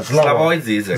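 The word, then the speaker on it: Slavoj Žižek: Se siete incuriositi, Slavoj, come si pronuncia? Slavoj Zizek.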